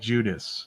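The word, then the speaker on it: Guidice: see we are oh uh Richard judius Rich Judy yeah probably Richard okay okay pronounced like Judas the former head of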